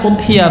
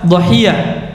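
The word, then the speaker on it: أضحية: Tayib, jadi itu bacanya udhiyah bahasa Arabnya, atau bisa juga dhahiyah.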